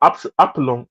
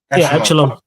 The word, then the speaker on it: echelon: Not that they don't have bad midfielders, but I feel like if you get a next level Epsilon, how do you say it again? Echelon.